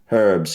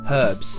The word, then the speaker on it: herbs: We Herbs, yeah. pronounce the H. Herbs. We don't.